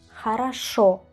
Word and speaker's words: хорошо: Jaraso, jaraso. Jaraso. Acento en la última letra, es decir, jaraso. Y usamos a en lugar de o.